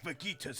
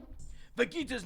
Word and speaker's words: Vegeta: Vegeta's name is actually pronounced the word you say vegetables. Vegetables, so Vegeta.